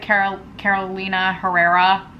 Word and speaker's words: Carolina Herrera: Oh, it's inspired by Carolina, is that how you pronounce it? Carolina Herrera.